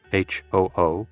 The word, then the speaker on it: hu: associated with the kidneys ho oo pronounced like who which is associated with